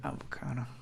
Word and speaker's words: avocado: Avocado. Jesus Christ. Oh my God. Então aqui a gente tem avocado, porque a sílaba forte está avocado.